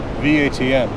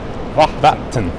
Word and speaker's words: vatn: So water, V-A-T-N. Vatten. Yeah, Vatn.